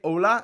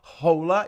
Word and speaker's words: hola: it like you say ola not hola you don't pronounce the h if you need a